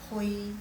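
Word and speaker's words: 回: alangkah baiknya juga dikasih jadi pas bacanya jangan ui, hui, jangan. Jadi bacanya kasih di tengah. Jadi kedengarannya seperti benar-benar orang China. Jadi hui, jadi bacanya kayak ha, u, i. Hui, kasih nadanya kedua.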